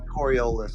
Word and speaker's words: Coriolis: You didn't say it right. It's Coriolis.